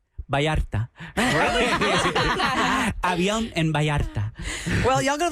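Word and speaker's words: Avión: You know, the V is always a B, I've noticed.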